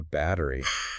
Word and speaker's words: battery: That's the battery. And again, that sound might soften to a D in American English.